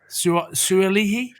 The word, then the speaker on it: Suaalii: Suaalii?